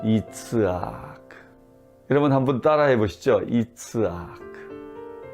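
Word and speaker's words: יצחק: 히브리 말로 이 이삭이란 단어는 이츠아크라고 하는 단어인데요. 발음을 그대로 해보면 실제로 우리 입에 미소가 생겨나요. 이츠아크.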